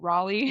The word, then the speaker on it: Raleigh: Raleigh. Riley.